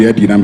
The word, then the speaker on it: Edinam: somewhere in 2019 was questioning the pronunciation of the name, whether it's Adinam or Edinam, saying, oh, in our land it's supposed to be Edinam. He doesn't understand why that should be Adinam, but I'm sure for those